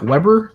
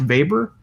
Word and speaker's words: Weber: talk about Max Weber it looks like Weber it's pronounced Weber and we're gonna read